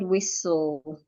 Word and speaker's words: whistle: Letter H is silent when it is followed by W, like in the word whistle.